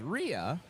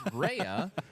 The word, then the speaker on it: Rhea: and I thought I genuinely believed it was Ria because like there's also an actress from Better